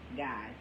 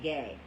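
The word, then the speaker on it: Gey: word it said pronounced guy but it's in the book it's written g y so it makes you want to say gay but it's guy so just wanted to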